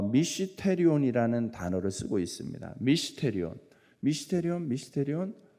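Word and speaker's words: μυστήριον: 미스테리온이라는 단어를 쓰고 있습니다 미스테리온 미스테리온 미스테리온 여러분 많이 들어본듯한 발음과 비슷할 겁니다 그죠 신비 비밀이라는 뜻을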